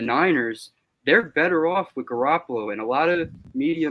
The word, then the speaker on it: Garoppolo: How do you pronounce his name again? Jimmy Garoppolo.